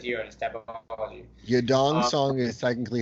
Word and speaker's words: Yadong Song: Yadong Song is technically how they pronounce it in Asia.